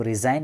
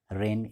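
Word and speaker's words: reign: ठीक है, इसको रिजाइन आप लोग नहीं पढ़िएगा, रेन इसको पढ़ते हैं, जी का साउंड यहाँ पर साइलेंट होगा। रेन जो हम लोग वर्षा वाला रेन बोलते हैं ना, वही इसका भी प्रोनाउंसिएशन है, रेन।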